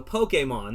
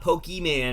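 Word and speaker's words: Pokémon: in the south um it's poke and then think about it like this the letter a mon so pokemon that's how you say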